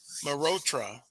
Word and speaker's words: Malhotra: Malhotra. The H is silent.